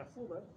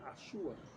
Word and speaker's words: azuda: Una azuda de origen árabe. Pero como nosotros no pronunciamos la Z, decíamos una asúa. Y luego se quedó en súa.